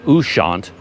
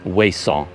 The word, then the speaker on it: Ouessant: coast of France, called Ouessant. I think a lot of British usage and English calls it Ouessant, but the French pronunciation is Ouessant.